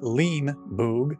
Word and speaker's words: Leenie Boog: we know how to say it it is lean boog i'm gonna leave this one here so if